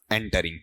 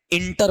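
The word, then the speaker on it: entering: बताओ इसका उच्चारण करना क्या है आपका, एंटरिंग। बताओ इंटर होता है या एंटर होता है, एंटर, और हमसे क्या पढ़ा जाता है, इंटर पढ़ा जाता है, जबकि ई नहीं होना चाहिए, क्या होना चाहिए, ए होना चाहिए, ठीक है।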